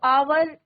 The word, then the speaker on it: hour: क्योंकि क्या है बच्चों, आर है तो आवर, HOUR, बट यहाँ पे क्या है बच्चों, एच साइलेंट है। साउंड किसका निकल रहा है?